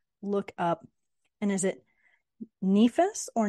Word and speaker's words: nefas: also I did look up and is it nephus or nephus how do you pronounce that yeah so it's actually more of a nefas Naas that's yeah okay yes and that is